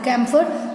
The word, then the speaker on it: camphor: Camphor, this H also silent.